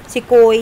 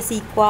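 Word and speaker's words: Sequoia: Okay, सिकोई या सीक्वा, आप यू can pronounce it एज you want.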